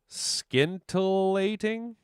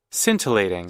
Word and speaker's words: scintillating: know what that word is or how to pronounce that. Skintilating. Skintilating. All right, boys and girls. Would you like to be my neighbor? Let's figure out what this means. Scintillating.